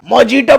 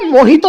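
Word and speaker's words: mojito: मोजीटो पिएगा, मोजीटो। अरे जंगली बिल्ले, मोहितो होता है वो, मोहितो मोहितो।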